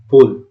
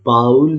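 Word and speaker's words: bowl: Keep it बोल, इसको बाउल नहीं बुलाएंगे। ठीक है, इसको बाउल नहीं बुलाएंगे, इसको बोल बुलाएंगे।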